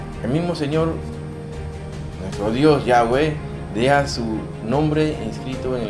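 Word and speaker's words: Yahvé: Dios nombre conocido como nombre que no se puede pronunciar pues no tenía no s no tiene vocales y se le conoce como el Dios He B que es el nombre de nuestro Dios que nosotros podemos pronunciarlo como yahwe que es el nombre real de Dios yahwe y aquí lo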